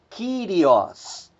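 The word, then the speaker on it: Κύριος: E por fim nós temos mais 3 palavras cujo acento está recaindo na antepenúltima sílaba. Nós temos a palavra diáconos, diáconos, diácono. Nós temos a palavra mysterion, mistério. E nós temos aí a palavra Kyrios, Kyrios, Senhor.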